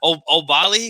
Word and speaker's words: Oubaali: I just get Oubaali.